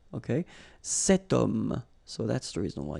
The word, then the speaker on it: homme: Remember, H is not pronounced, okay? So you've got the sound of O at the beginning of this word, okay? Cet homme.